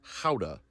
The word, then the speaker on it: Gouda: More accurately pronounced howa and vegan is more accurately pronounced vegan.